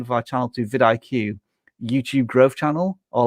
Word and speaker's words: vidIQ: VidIQ is kind of memorable, but people always mispronounce it. Vidic, for example.